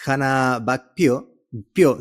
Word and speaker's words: Hanna Back Pyo: Ella es Hannah Back Pio, ¿cierto? Así se pronuncia, ¿está bien?